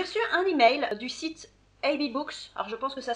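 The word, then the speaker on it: AbeBooks: bien sûr, j'ai reçu un email du site AB Books. Alors je pense que ça se prononce comme ça, ça s'écrit A-B-E-B-2-O-K-S, AB Books, AB Books.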